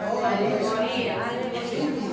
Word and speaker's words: alegoría: Tiene acento en la y alegoría. Simil y alegría. Alegoría. Alegoría. Vaya. Mire, termina en acento en la IA.